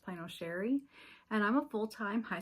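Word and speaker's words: Chere: My name is Sherry and that is spelled C H E R E. It is spelled a little fancy but pronounced plano Sherry.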